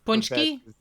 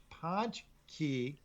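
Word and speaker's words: pączki: right so did you how do you say this word punch no it's actually punch it's ponch key uh when you do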